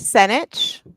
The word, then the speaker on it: Senich: It's not Sanchez. Yeah, it's Senich. Senich. Oh, nobody can say it right the first time, but I always say it rhymes with spinach.